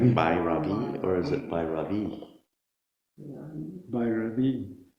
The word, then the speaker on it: Bhairavi: do you inflect that I like Bhairavi, or is it Bhairavi? Bhairavi. So all smooth until the end.